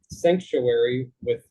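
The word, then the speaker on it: Psanctuary: And then there's another church called Sanctuary, spelled with a PS, like psilocybin, that focuses on mushrooms.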